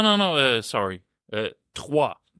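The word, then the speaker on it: Troyes: no uh sorry uh twah twah we play TW it's it's very fren TW yeah unun it's not Troys they spell it Troys but it's uh there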